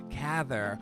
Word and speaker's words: Cather: my second grade teacher she said cather rhymes with rather and we were invited